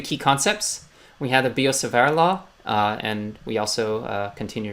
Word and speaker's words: Biot-Savart: So to review the key concepts, we have the Biot-Savart Law, and we also continue to remember that in many cases in French, the T is silent, as is doubly emphasized in this case.